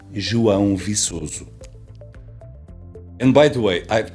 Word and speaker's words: João Viçoso: Kevin commented on one of my videos and asked how my name is pronounced in Portuguese. So Kevin, here it is. My name is João Viçoso.